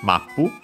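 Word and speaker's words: マップ: If when then we have mapu from English map pretty easy we have seen it before not again as a reminder notice the doubling of the consonant as that's the main difference other than usual additional at the end the accent is the same the object particle o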